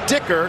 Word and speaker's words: Dicker: And again, that's Dicker. Just happens to rhyme with kicker.